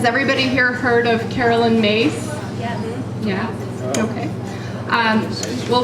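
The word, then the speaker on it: Myss: is um has everybody here heard of Carolyn mace yeah yeah okay um well for those of you that haven't Carolyn mace her the spelling of her last name is m y SS but it's pronounced mace and she's kind of the person that coined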